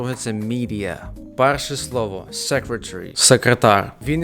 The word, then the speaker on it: media: Наступне слово медіа. Як він його сказав? Щось типу media. Dear media. Media. Правильний варіант media. Media. Тобто замість е ми кажемо і.